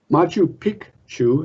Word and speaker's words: Machu Picchu: mysterious and fascinating sights within the inca empire machu picchu as it's correctly pronounced was constructed between 1450 and 1460.